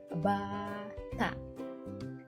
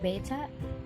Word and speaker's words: bata: It's not beta, it's bata in Filipino.